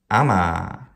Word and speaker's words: ama: Ama. Ama. Short, long.